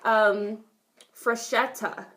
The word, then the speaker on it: Freshetta: Freshetta just made a gluten-free pizza, and is that how it's pronounced? I mean, freshetta, you just kind of put a little emphasis on it.